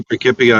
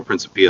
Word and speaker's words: Principia: I say Principia. Principia. And it can be Principia or Principia. That's what I've heard. I say Principia usually, yeah. So Principia, maybe.